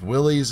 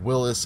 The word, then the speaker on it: Willys: So here is the kit, the Jeep Willys MB, Willis MB. You hear it pronounced a few different ways.